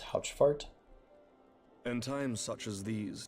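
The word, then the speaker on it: Haurchefant: I believe his name is pronounced Houchfart.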